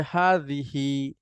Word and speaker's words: هٰذِهٖ: এটার উচ্চারণ হচ্ছে হাদিহি।